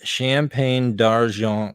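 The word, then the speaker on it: Champagne d'Argent: champagne darjean rabbits so you have to say that with your nose in the air and say it like you're from um you know the other side of Canada um quebecois yeah yeah um they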